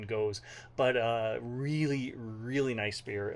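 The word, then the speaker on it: gose: I think it's goze. I heard some people say goze. I looked it up once. I spent like a half hour once on YouTube watching people pronounce it, and I've settled on goze.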